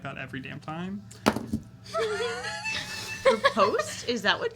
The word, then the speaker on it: riposte: Riposte? Is that what? It's riposte. Riposte. It's French.